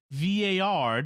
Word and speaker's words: vieillard: email, I was wondering if the word is vieillard, which is French for old man. In anglicized pronunciation, one would pronounce it Valeyard.